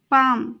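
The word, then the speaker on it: palm: होकर काफ काफ हथेली पाम यहां पर भी एल साइलेंट रहेगा और इसका प्रोनंसिएशन होगा पाम की तरफ टुवर्ड्स टुवर्ड्स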